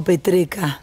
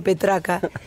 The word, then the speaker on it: Petreca: Hablábamos con un funebrero, ¿no?, del sindicato, con Domingo Petreca. Pronuncia. Hoy me salió bien porque ayer le dije Petraca.